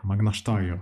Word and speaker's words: Magna Steyr: Magna Steyr. Voilà, ok, très bien, on prononce à l'autrichienne.